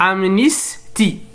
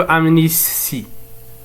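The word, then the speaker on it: amnistie: إذن لكي ينطق التاء بالسين لا يجب أن يكون مسبوقا بحرف السين مثل هنا نقول أمنيستي ولا نقول أمنيسي أمنيستي.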